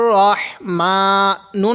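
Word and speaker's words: الرحمن: এখানে রাহিম পড়ি এখানে রাহমানির রহিম এরকম করে পড়ি এরকম করে পড়বো না তাহলে বলেন তো এই শব্দটা কি হবে রাহমান হবে না রহমান হবে হ্যাঁ রহমান রহমানির এরকম হবে রাহমানির এরকম পড়বো না রহিম এটা আমরা অনেকে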